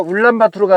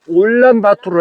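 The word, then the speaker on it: Улаанбаатар: 그러니까 울란 바투로가 아니라 올란 바투로 해야 돼요.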